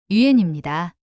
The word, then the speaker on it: yuan: 元安 이 발음은 유엔입니다. 우리나라에서는 이를 중국의 위안화가 하는 식으로 보도하곤 하는데 이는 한어병음 표기에 A 글자가 들어있기 때문입니다.